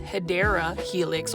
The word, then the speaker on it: Hedera Helix: And then over here, we've got a Hydra Helix, or the correct way to say it is Hedera Helix, or the English ivy.